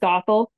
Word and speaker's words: Gothel: But like Well, if I'm there's the whole relationship with what's how do you pronounce her name? Goeth. Gothel, Gothel.